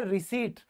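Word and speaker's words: receipt: English में कहते हैं रिसिप्ट और यहां पर यह जो पी है यह दोस्तों साइलेंट रहेगा ये याद रखना ठीक है ये रूल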